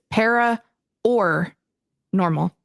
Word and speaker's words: Para OR Normal: And just in case, because of how you pronounce it, it is Para OR Normal, not Para OR.